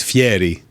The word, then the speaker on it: Fieri: He would yell at you, it's Fieri. He's okay. Italian. Well, it's very particular about his pronunciation.